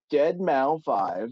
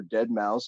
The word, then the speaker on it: deadmau5: So Dead Mao 5, or Dead Mouse, depending on how you want to pronounce it, built this amazing spinning cube.